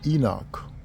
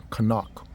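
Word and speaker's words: חנוך: We see that word in the word um in the English they say Enoch but its name is pronounced Kanak.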